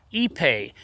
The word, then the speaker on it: Ipe: might be considering using a real wood or epe for your own deck project I thought just give you some facts that we know about the product and the last one's really going to blow your mind epe is a very dense material it's pronounced EP